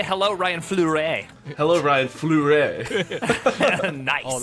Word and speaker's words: Fleury: Is it Fleury? That's perfect, actually. I've That never was, pronounced was leaning better.